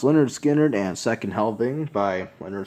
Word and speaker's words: Lynyrd Skynyrd: We have a double album here, and that is pronounced Lynyrd Skynyrd and Second Helping by Lynyrd Skynyrd.